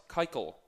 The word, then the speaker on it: Keuchel: We got Max Scherzer going up against Dallas Keuchel.